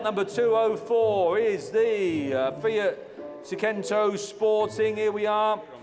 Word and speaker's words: Seicento: Lot number 204 is the Fiat Seicento Sporting. Here we are. How did you pronounce it? Seicento, innit?